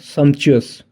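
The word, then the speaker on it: sumptuous: Synonym of the word सम्पचुअस, ठीक है, pronunciation पर ध्यान देना, सम्पचुअस, ठीक है।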